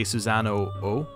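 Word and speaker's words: Susano-o: social link infuses susano I believe that it's meant to be like susano as an o with a long o it's much more funny to say susano oh so that's what I've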